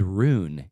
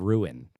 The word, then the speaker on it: ruin: But another thing that she says is rune instead of ruin.